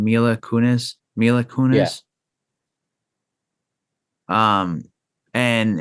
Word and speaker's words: Mila Kunis: How do you pronounce his wife's name? Mila Kunis.